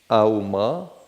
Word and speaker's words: Aum: The Om sound is a vibration. Auma, Aum. 3 syllables.